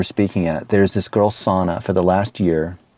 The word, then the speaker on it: Sana: And in one of the incubators that we were speaking at, there's this girl, Sana, for the last year. Not sauna as in jacuzzi, but S-A-N-A.